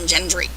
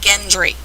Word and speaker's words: Gendry: note gilly and gendry the two most strangely pronounced names hard g's and yes i've heard people call them jilly and gendry yeah it looks like